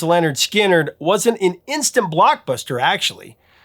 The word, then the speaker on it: Lynyrd Skynyrd: night really now released on August 13th 1973 pronounced Leonard skinnard wasn't an instant Blockbuster actually it steadily built